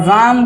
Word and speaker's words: ram: एक और होता है, इसको रैम पढ़ते हैं इंग्लिश में, इसको स्पेलिंग सेम है बेटा, स्पेलिंग सेम है, लेकिन ये आ गया वर्ड मीनिंग में, इसको हम पढ़ेंगे रैम।